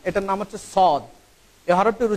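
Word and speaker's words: صاد: এই হরফটির উচ্চারণ হয় জিহ্বার আগা সামনের নিচের দুই দাঁতের গোড়ার সাথে সম্পৃক্ত হয়ে এই হরফটির উচ্চারণ হবে এইভাবে সদ, সদ, সদ।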